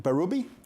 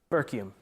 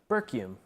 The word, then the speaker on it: Bercume: No, it's Bercume. Say it again. Bercume. There's no K. It's B-U-R-U-M-E. That's what it says. How do you spell it? I blame Scott. How do you spell it? B-E-R-C-U-M-E. All right, so Bercume. Yeah, it's like right? the American version of the French last name Berthiaume.